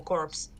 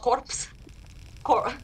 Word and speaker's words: corps: created his own National Corps uh not corpse whatever not not that the dead bodies National something corpse I